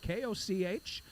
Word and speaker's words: Koch: I suspected, that was the S word I was looking for, it might be like Ed Koch, and that is how you pronounce his last name, Koch.